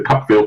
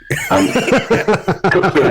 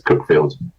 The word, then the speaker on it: Cuckfield: I was doing the Cookfield Book Festival, or as my publisher calls it, the Cuckfield Book Festival. Cookfield is spelled C-U-C-K, field, and people cannot handle the fact that it's Cookfield.